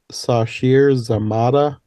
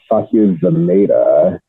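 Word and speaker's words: Sasheer Zamata: Her mom is Sashir Zamata, which I don't recognize that name. I know who that is. I think it's pronounced Sasha Zameda, and Okay.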